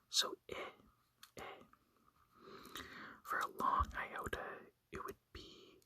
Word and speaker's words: iota: So, Iota has different pronunciations based on if it's a short or if it's a long iota. So, in a short iota, it would be like the sound in it.